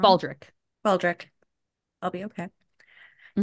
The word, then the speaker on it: Baldrick: I'm going to be like, excuse me, Roderick. Roderick? Is it Roderick? Did I say his name wrong? Baldric.